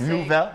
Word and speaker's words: Neufville: Neufville. Did I say it French enough?